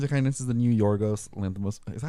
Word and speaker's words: Yorgos Lanthimos: Okay, well, basically, Kinds of Kindness is the new Yorgos Lanthimos.